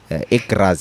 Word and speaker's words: Graz: So what are some of the things that you learned Graz? Is it Graz? Graz, yeah.